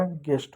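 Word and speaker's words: guest: गेस्ट हो गया। यानी कभी भी यू के साथ जी आए तो हमेशा क्या होगा? यू साइलेंट होगा।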